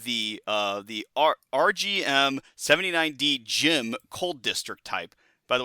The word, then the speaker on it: GM: uh the RGM 79D gym cold district type. By the way, that is the GM is pronounced in Japanese gym.